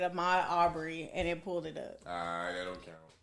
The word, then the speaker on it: Arbery: Aubrey. It's Arbery. It's A-R-B-E-R. That ain't how they've been pronouncing it.